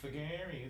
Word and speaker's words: figary: Is it figari? Is it? Figari. It's a weird pronunciation there, but yeah, figari.